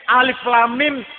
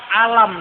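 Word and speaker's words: الم: Kalau orang ono ilmu tajwid, nek orang ono ilmu tajwid, alif lam mim dibaca alam itu. Tapi kata ilmu tajwid bacanya alif lam mim.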